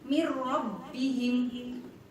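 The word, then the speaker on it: مِنْ رَبِّهِمْ: Maka membacanya adalah mir rabbihim, jangan sampai menimbulkan bunyi dengung. Mir salah, yang betul adalah mir rabbihim.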